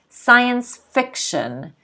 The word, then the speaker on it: science fiction: two words science fiction science fiction notice the stress is on the fiction science fiction a type of story